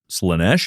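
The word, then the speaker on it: Slaanesh: You do understand Slanesh. Yes. Good. Do you? Yes. Do you really? Yeah, I do. Okay, good. Just checking. It's a big word, but Slanesh is 2 syllables.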